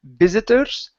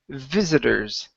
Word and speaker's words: visitors: Give me a good V sound instead of visitors. Okay, visitors. Visitors.